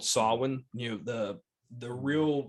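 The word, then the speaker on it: Samhain: but that Michael is um they Loom is pronounced as a Sam Hayne but really it's called sawwin you know the the real Fest of October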